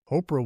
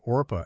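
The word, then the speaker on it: Orpah: Oprah was first named Orpa after a biblical woman, but the name was changed on papers because people consistently mispronounced it as Oprah.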